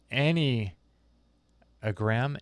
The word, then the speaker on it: Enneagram: out equi centric says just for info it's pronounced any a gram Enneagram as how you say it Enneagram I've always heard Adam